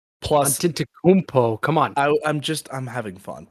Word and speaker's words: Antetokounmpo: Joel Embiid plus 800, and Giannis Antetokounmpo plus. Antetokounmpo, come on.